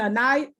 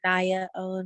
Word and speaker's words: Anaya: I got a hand, a night. Am I pronouncing that right? Yes, ma'am. It's Anaya.